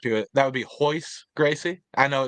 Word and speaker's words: Royce Gracie: That would be Royce Gracie. I know it's spelled with an R, but you know how those Gracies do. It's all the R first names are actually pronounced with an H.